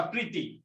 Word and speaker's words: প্রীতি: পারা কষ্ট হয়ে যাবে এবার আসোতো তুমি উচ্চারণ করবা প্রীতি এই যে দীর্ঘইকারটা তুমি যদি একটু ভালোভাবে উচ্চারণ করে দেখো এই দীর্ঘইকার উচ্চারণ হচ্ছে প এর সাথে না র এর সাথে প্রীতি প্রীতি এখানে আছে শুরুতে আছে